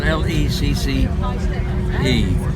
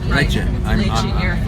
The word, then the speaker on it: Lecce: And he showed some films that were taken at, I guess it's pronounced L-E-C, it's spelled L-E-C-C-E, Lecce, Lecce, in the air base